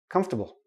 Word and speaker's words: comfortable: a small tiny tiny little ey in there comfortable comfortable comfortable okay we don't pronounce the or comfortable no don't do that